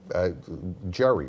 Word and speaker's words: Gerry: Jerry, right? Gary, yeah.